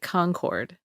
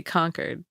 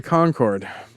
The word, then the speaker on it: Concord: By the way, that you know what's interesting about that town in North Carolina, they pronounce it Concord. Oh, really? And out here we say conquered.